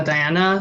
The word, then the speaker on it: Diana: hey hi yeah um you can pronounce it as uh diana like in english or right doesn't matter for me i like both um but